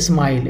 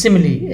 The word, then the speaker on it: simile: figure of a speech don't pronounce it a smile a smile is a different word it is simile s-i-m-i-l seemingly so it is a